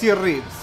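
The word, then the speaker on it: Reeves: Sí gracias Andrés keny ribs cómo keny ribs o reves es keny y se escribe reves con r e e b corta es s sape Esta es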